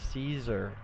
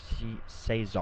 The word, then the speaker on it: Cesar: It's pronounced Caesar, not Cesar, or however you're saying it. Oh, sorry. Okay, Caesar. Cesar, it spelled more like the Mexican or Spanish pronunciation would be, but Caesar.